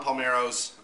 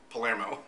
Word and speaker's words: Palmero: Last night I went to Roaring Fork for a tweet up for Flicks and Food, and it was Non Palmero's, not Palermo, as half the time